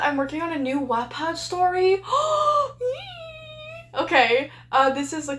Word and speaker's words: Wattpad: It's pronounced Wattpad, dingus.